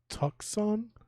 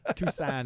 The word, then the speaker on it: Tucson: be honest with you i'm glad you read that because i was like tuxon yeah tucson arizona like you're is that